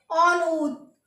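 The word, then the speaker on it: en haut: एच को H silent होता है, मैंने आपको पहले भी बताया, एच को प्रोनाउंस नहीं करेंगे तो AUT को ऑनऊत।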